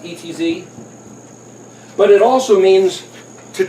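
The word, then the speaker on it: עץ: like a tree is I and Adi it's pronounced etz but it also means to take counsel well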